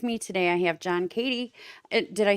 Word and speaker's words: Cady: folk and with me today I have John Katie and did I say that right yeah yes